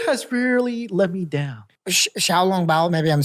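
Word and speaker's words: xiaolongbao: Xiaolong Bao, maybe I'm saying that wrong.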